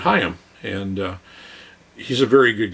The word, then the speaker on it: Higham: the last name here in the United States we'd probably pronounce it higham but I actually heard him being interviewed and they pronounce it hi him and he's a very